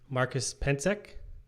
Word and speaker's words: Marcus Pentzek: um today i'm going to be talking to marcus pencek is that how you say your name yeah